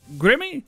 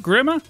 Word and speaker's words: Grimme: Let's go to Grimme? How do you say this? Grimme? Grimme? Grimme.